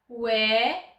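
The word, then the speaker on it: 왜: "wae" - the tongue goes from the middle-back of the mouth to the bottom.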